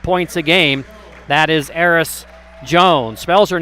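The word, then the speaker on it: Ayeris: Washington averaging 6.3 points a game that is AIS Jones spells her name a y e r i s but pronounced AIS Trista Dell as a sophomore Guard from Spokan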